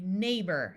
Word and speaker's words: neighbor: this looks like neighbor most of the time people say neighbor as if this were ER Freight now one important